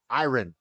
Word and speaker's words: iron: clothe iron iron IR say it like you are I earn like when you go to work like when you go